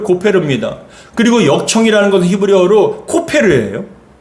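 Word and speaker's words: כֹּפֶר: 역청을 그 안팎에라는 것, 이 역청이라는 것은 히브리어로 코페르라는 단어예요. 근데 칠하라 했을 때 칠하라는 건 히브리어로 카파르예요. 그러니까 여러분 이 히브리어대로 발음대로 표현을 한다면 14절이 고페르 나무로 방주를 만들고 코페르로 안팎을 카파르하라라고 얘기합니다.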